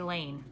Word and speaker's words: Lane: asked me about her betsy layne I reply rhymes with pain she frowns everybody says